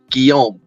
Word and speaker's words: Guillaume: Don't worry about Guillaume?